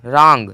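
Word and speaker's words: wrong: भी उच्चारण नहीं निकला जैसे डब्लू आर ओ एन जी रंग रंग रंग मतलब होता है गलत आर ओ एनज का तो साउंड निकला है ठीक है उच्चारण निकला है लेकिन डब्लू का नहीं निकला है ए एन एस डब्लू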